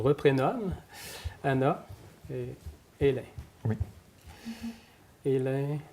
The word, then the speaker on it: Aelin: Hélène, Hélène qui s'écrit avec un A-E, donc pour ça le A, oui. ça fait Hélène.